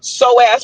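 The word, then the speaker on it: psoas: But whether it's penises, pani, soaz begins, which begins with a P, it's spelled P S O A S, which is one of which is one of the long muscles in our body.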